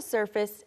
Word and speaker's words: surface: you have to scratch below the surface and not just take for granted what appears to be true.